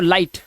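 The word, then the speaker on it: light: आई से पढ़ना सीखें और जीएसटी में आया जीएच बिल्कुल साइलेंट होता है ठीक है कैसे होता है आइए दिखाता हूं तो उस हिसाब से ये पढ़ेंगे लाई और जी एच साइलेंट तो लाइट ऐसे ही फाइट साइट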